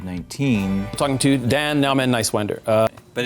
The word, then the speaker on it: Niswander: Talking to Dan Nowman Niswander. But it's Niswander. Just think nice and wander. Niswander.